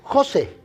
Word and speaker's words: José: Mire, yo me llamo José, ¿da? Bueno, no estoy dudando, me llamo José, ¿ok? Y mi nombre tiene un acento en la E.